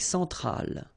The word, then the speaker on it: centrale: L'Amérique centrale. Same thing here. Centrale, remember, E-N, nasal, so it goes in your nose.